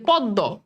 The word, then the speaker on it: পদ্ম: ম কিন্তু একটা নাসিক্য, দেখো ম কিন্তু নাসিক্য ধ্বনি, ময়ের উচ্চারণ কি আছে? বলো তো বাবা, নাই। এই যে ময়ের উচ্চারণ যে নাই, সে তো নাসিক্য, সে